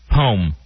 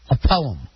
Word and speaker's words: poem: for you it says p-o-e-m home see that's only using one syllable only 32 percent of the country says it that way i also say poem i'm gonna read your poem uh most people will say it two-thirds of the country will say it with two syllables a poem we're reading